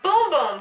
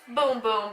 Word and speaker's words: Bum Bum: This is the travel size of the Brazilian Sol de Janeiro Boom Boom Cream, which is actually spelled Bum Bum, but how you really pronounce it is Boom Boom because it's Brazilian, and that is what they say instead of butt.